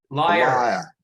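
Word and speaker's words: lyre: Did I pronounce a stringed musical instrument as Italian money? You did, Bruce. So it's a how do you pronounce the instrument? Liar.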